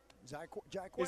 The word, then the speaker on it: Jaiquez: The Z is silent. I told you. Jaiquez. Is there a Z in the name or not? Jaiquez.